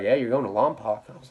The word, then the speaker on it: Lompoc: you're going to Lompoc now it's really called Lompoc but if you know anyone that's done fed